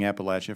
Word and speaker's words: Appalachia: I would suggest when you, and you appreciated you both pronouncing Appalachia, for those of us from Central Appalachia, correctly, and for recognizing there are some things we can do in Appalachia.